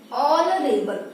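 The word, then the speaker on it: honorable: ठीक है, अब यहाँ पे देखिए एन ऑनरेबल मैन, सेम चीज, यहाँ पे ऑनरेबल में ये हमारा एच क्या है, साइलेंट हो गया है, ऑनरेबल, पहला जो साउंड है क्या निकल रहा है, अ निकल रहा है, इसीलिए हम यहाँ पे एन लगा दिए।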